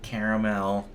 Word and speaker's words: caramel: And you got the regulars, you got caramel, you got vanilla. Caramel is how you say it, by the way. Chocolate. Caramel. It's caramel. Caramel.